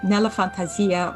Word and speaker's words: Nella Fantasia: Nella Fantasia, which is the Italian pronunciation, it's in my fantasy or in my imagination.